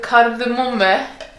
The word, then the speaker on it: kardemomme: But basically, it's like a bun with kardemomme. Cardamom. Kardemomme is how you say it in Norwegian.